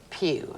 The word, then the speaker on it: Pugh: Virginia Wynette Pugh.